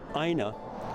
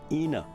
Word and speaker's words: Ina: her more than and people calling her AA instead of the her correctly pronounced name Ena and here we are